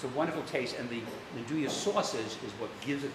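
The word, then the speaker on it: 'nduja: It's a wonderful taste, and the Nduja sausage is what gives it the taste.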